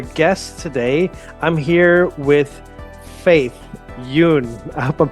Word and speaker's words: Faith Yün: I'm here with Faith Yoon. I hope I'm pronouncing that correctly.